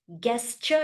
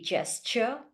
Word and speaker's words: gesture: is not necessary secondly pronunciations guesture it should be gesture crucial confusion or organization